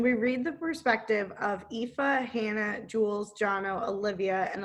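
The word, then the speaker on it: Aoife: i listened to it yeah yeah i was pronouncing it like elf oh okay yeah not right ifa yeah i even wrote like a little a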